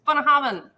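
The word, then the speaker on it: Bunnahabhain: would be up is bonahaven it is maybe the least uh easily pronounceable for the average american yeah because of the combination of lots of things including the bh which makes a v sound a visa yes b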